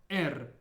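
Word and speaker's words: Р: the last one is er ER this letter is a little bit different than the English R because it's rolled similar to how you roll your r's in Spanish for example ER if you struggle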